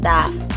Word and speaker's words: Dove: mayoría, en mi caso, lo solemos llamar Dove. Sin embargo, no se dice así. La palabra correcta es Dove.